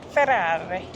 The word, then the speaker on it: Ferrari: Ferrari. Got to say it like that. Got to say it properly.